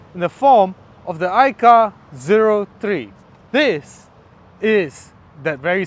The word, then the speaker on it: iCaur: It's not iCaur, it's iCar. That's how it is pronounced.